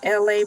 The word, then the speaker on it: ELAY: It is freestyle Thursdays and you are locked into LA. Pronounce like LA like the city.